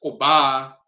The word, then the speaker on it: oba: pronounce certain things, like the term for woman is oba amongst the Asante, but they'll say obea amongst the Akwamu and so forth.